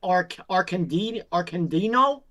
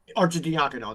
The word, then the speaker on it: Arcidiacono: The Ryan Arcandino, I think that's how you say it, is the other guy. Arcidiacono's on there? Arcidiacono, that's it.